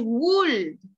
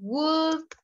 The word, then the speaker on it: would: because you always says would no and i always say is that letter l is silent would could should talk walk